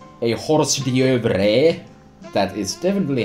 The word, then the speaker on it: hors d'oeuvres: last cause this is as they say a hors d'oeuvres that is definitely how you say it and